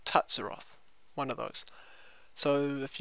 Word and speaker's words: K'ril Tsutsaroth: of my head so apparently it is krill tutsiroth or tatsuroth one of those so